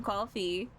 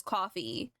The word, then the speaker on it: Ko-fi: I support her on Ko-fi. Or Ko-fi, whatever the fuck it's pronounced. Listen, I don't care if it's called Ko-fi. I pronounce it as coffee.